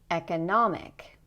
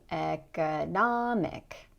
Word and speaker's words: economic: Economic. Economic. Notice in this word that because the stress is here, the O is going to be very clear.